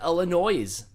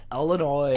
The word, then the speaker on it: Illinois: Or is it Illinois? Don't say it like that. Illinois.